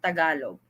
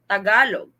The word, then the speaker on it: Tagalog: What is the proper pronunciation of Tagalog? Tagalog.